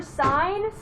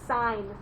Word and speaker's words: sine: it just says s-i-n it's not sin it's sign i know it looks like sin but they say sign it's not cos it's